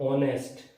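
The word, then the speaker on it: honest: दूसरा वर्ड है ऑनेस्ट, आप ऑनेस्ट, एच फिर साइलेंट है, तो इसको आप पढ़ें ऑनेस्ट, तो इसमें क्या आएगा, एन, ऑनेस्ट।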